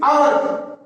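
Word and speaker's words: hour: हाँ, जैसे एक नेक्स्ट एग्जाम्पल ये लिख देता मैंने, ये लिखा मैंने, इसका उच्चारण एच से ना होकर के अ से, और मैंने ये लिख दिया इट इज आवर, इट इज हॉर्स।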